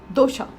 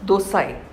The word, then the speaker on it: dosa: Even though dosha is spelled DOSA, we usually call it as dosha or dosai.